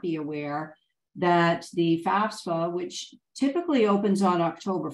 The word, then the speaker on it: FAFSA: trying to figure out how do we pronounce this FAFSA is it FASFA or such so don't you know